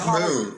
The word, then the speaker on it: Hull: Very good, because I always say Hull rhymes with dull.